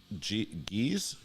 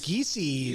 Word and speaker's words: Giese: I got Geese. That's Giese. That's John Giese. Nobody can pronounce his name right, so don't feel bad. Okay. All right. Yeah. I'm not trying to be rude. I honestly. It's Giese, but nobody knows that.